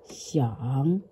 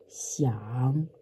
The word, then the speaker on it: 想: One is the pinyin way, X, I, A, N, G, and the third tone.